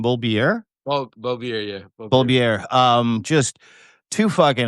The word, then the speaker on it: Bolbirer: Bolbirer, yeah.